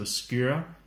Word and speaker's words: Skyr: guess, on Iceland, and it's called, I'll pronounce it in Danish because that's the only time I've ever heard it said out loud. So Skyr is what it's called.